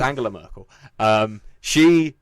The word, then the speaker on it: Angela Merkel: I don't know if it's a hard G. It's definitely a hard G. Okay. It's Angela Merkel.